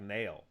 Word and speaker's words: Niall: then neil ferguson which his name is spelled kind of funny i didn't realize his name was spelled n-i-a-l-l how the is that neil it's like nail that's like nail ferguson like you hit a